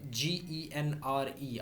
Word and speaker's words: genre: This GENRE architectural जॉनरास, it is I think a French word.